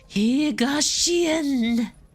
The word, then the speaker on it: Higashi: Oh, so I have to say it as if I were to be speaking Japanese. Higashian.